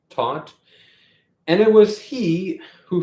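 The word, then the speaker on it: Theuth: spelled um that's t-h-e-u-t-h I assume I'm pronouncing that correctly taught and it was he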